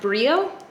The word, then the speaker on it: Brillo: called barely there and this is called brillo but I think it's pronounced Brio I'm pretty sure it's Spanish word and by pretty sure I mean completely sure because I googled it I would I think